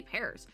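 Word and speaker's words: Pers: What is it? It's pear. I've been saying pears this whole time.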